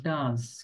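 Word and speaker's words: does: আচ্ছা তিন নাম্বার হচ্ছে ডি ও ই এস তখন এটা উচ্চারণ হবে ডাস কি হবে ডাস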